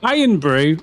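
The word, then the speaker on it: Irn-Bru: You know, like, so Iron Brew spelled like iron, IRN BREW is like a Scottish pop drink. fizzy drink, which is super popular. Oh. And it's orange colored like that, and that's called Ion Brew, and it's shaped like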